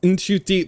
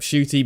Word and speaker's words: Ncuti: And he's had to, like, multiple times be like, so my name is pronounced Ncuti, but I also accept Shooty because I basically told everyone my name was Shooty.